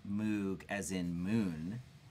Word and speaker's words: Moog: M-O-O-G is not pronounced Moog as in moon. It's Moog as in rogue.